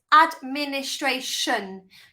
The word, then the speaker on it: administration: Okay, our 16th word is administration. Okay, so do you remember the shun sound? So T-I-O-N, which is spelled, how I say it is shun, so S-H-U-M.